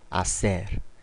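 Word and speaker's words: hacer: 자 아에 대해서 알아볼까요 아체의 경우에는 어 영어의와는 다르게 어떤 경우에도 소리가 나지 않는 무음이에요 발음해 보도록 할까요 오이 아오라 아셀 예 스페인어 초보자분들 경우에 이거로 호이 아호라 이렇게 발음하시는 분들도 있어요 처음 배우시는 분들은 근데 절대 헷갈리시면 안 되고요 절대 그냥 없다고 생각하시고 그냥 발음 하셔도 돼요 오이 아오라 아셀 이런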